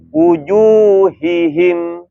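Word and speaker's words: وجوههم: menyempurnakan rohwanya ya kemudian kalau yang berharakat kita Bacanya jangan terburu-buru ya wujuhihim ya wujuhihim kalau keburu-buru enggak jelas tuh wujuhihim nah hihim kan harusnya ha wujuhihim ya ya Jadi kalau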